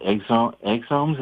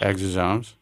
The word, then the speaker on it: exosomes: he recommends I take this new stuff called exomes. Is that how it's pronounced? Exosomes.